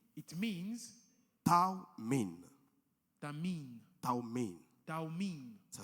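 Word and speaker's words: תמים: you pronounce it Taumin.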